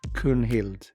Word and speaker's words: Gunhild: So names like Gunnar, Gunvar, Gunhild, all would have been pronounced more of a K, a guttural K. Kunvald, Kunnar, Kunhild.